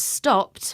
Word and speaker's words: stopped: Yes, sometimes the E and the D at the end sounds like a T.